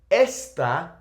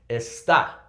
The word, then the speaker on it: está: For example, esta botella, this bottle. Esta botella. So make sure you're pronouncing the a there, right? Because of the accent, we're going to pronounce it. Está, right?